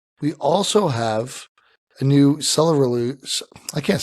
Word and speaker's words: Ceruledge: The actual pronunciation from the anime is Ceruledge. It's cerulean and edge.